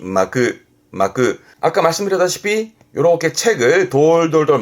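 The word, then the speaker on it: 巻く: 근데 주로 이제 동사로 쓰게 되는데 이게 발음이 마크.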